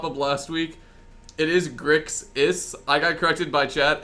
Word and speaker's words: Grixis: It is Grix-is, not Grissix. I do mispronounce that a lot, so... Reasonable people can disagree on many things, but the pronunciation of an X is not one of them.